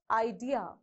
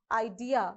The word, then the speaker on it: idea: do you pronounce this the correct way of pronunciation idea is you have to stress on the second syllable so we have two